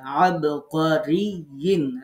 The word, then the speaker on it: عبقري: আবার হামজা না বানায় ফেলেন এটাকে, আবকারিয়িন, রি জিহ্বার মাঝখানে ইয়াকে চেপে ধরতে হবে যখন সাকিন, আর যখন ইয়া দুই যে রে, রিন জিহ্বার মাঝখান দিয়ে উচ্চারণ করতে হবে।